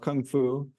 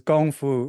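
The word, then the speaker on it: 功夫: And actually, it's not even Kung Fu in Chinese. It's Gong Fu or Wushu. So I was just saying it wrong.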